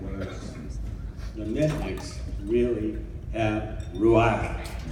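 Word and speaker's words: רוח: First of all, I need to say that those foregoing words, the Mitnicks really have ruach. It's pronounced ruach.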